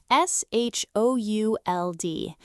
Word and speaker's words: should: Ah, the word should, s h o u l d. And yes, our favorite silent letter is hidden inside this one, too. The letter l is completely quiet here, too. It sounds like should.